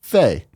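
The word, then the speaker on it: Fe: James the Kuma says EA's Faye is in fact pronounced Faye.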